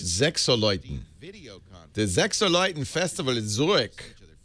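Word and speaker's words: Sechseläuten: Yeah, it should say win tickets, but pronounced Sechseleuten.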